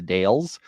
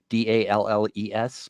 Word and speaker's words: The Dalles: I believe the city's name is pronounced the Dalles, Dalles.